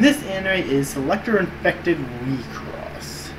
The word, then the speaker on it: WIXOSS: And this anime is Selector Infected WIXOSS. It's spelled W-I-X-O-S-S, but it's pronounced WIXOSS.